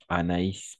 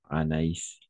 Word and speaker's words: Anaïs: Gargamel le sorcier Gargamel on peut constater qu'il y a le du point c'est à dire en français on le dit le tréma d'accord le trément le par exemple comme Anaïs par exemple Anaïs Anaïs d'accord le nombre Anaïs Azraël